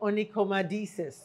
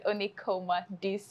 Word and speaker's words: onychomadesis: to cure in because francisa doesn't want to pronounce the word what are we talking about today it's called onoma deis okay onoma deis yes onoma deis is actually an abnormality of the nails and